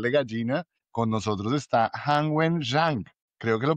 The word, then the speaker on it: Han Wen-Zhang: Con nosotros está Han Wen-Zhang. Creo que lo pronuncié bien, ¿cierto?